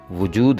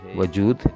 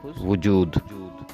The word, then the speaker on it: وجود: کو پڑھتے ہیں، جبکہ واو کے اوپر پیش ہے، اس کا صحیح تلفظ وجود ہے، وجود نہیں ہے، صحیح تلفظ وجود۔ اگلا لفظ اگر ہم